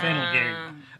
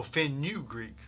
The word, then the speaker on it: fenugreek: fennel geek. No, fennel geek. There's your fennel Greek. Oh. Oh, fenugreek.